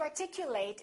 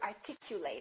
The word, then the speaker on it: articulate: and he speaks well so if it's a verb we say eight and if it's a noun or an adjective we reduce this eight and we say it